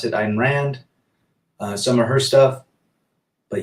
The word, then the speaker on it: Ayn Rand: Trance, 1984 is a must see, as well as reading Ayn Rand, if you want to pronounce it, Ayn Rand.